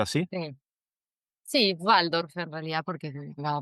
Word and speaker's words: Waldorf: ¿Se pronuncia así? Sí. Sí, Waldorf en realidad, porque la B corta en alemán, ¿viste?